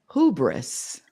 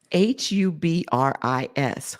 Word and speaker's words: hubris: of the day is hubis h u b r i s hubis hubris oh hubris sorry hubis hubis hubris can you spell it again yes